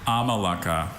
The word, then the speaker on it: amalaka: Are there any alternate pronunciations? Just the one, Amalaka. May I have the language of origin?